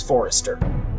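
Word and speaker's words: Forrester: the with Gregor Forester the heir to house Forester that's how you say it the two grew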